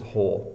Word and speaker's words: whole: hard to pronounce well the W doesn't make a sound so it's just whole so here we have